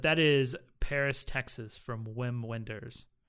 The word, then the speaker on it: Wim Wenders: is Paris Texas from Wim Wenders nice or vim vendors I don't know say it is any German yeah ven vendors das probably be more appropriate pronunciation and a funny story